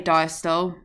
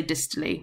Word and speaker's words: diastole: So I say diastole, some people say distole. I say systole, some people say systole. So diastole, distole, systole, systole, whichever your teacher says, whichever you say, I'm going to pronounce it that way. Pronounce it how you like. As long as you spell it correctly, then both are accepted.